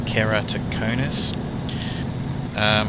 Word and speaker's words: keratoconus: Okay, so I can't get emergency glasses because basically I've got a thing called keratoconus, which is spelt with a K, and it's pretty much spelt the way it sounds, keratoconus.